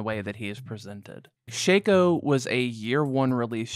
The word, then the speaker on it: Shaco: Shaco or Shaco but I'm pretty sure it's pronounced Shaco Shaco maybe like Shaquille O'Neal Shaco is an absolute anomaly